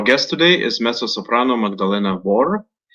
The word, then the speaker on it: Wor: Our guest today is mezzo-soprano Magdalena Vor. Am I pronouncing your name correctly? Vor? Yes, it's Magdalena Vor.